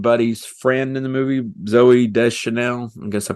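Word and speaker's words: Zooey Deschanel: ends up being Buddy's friend in the movie Zoe de Chanel I guess I pronounce that right that's right you got it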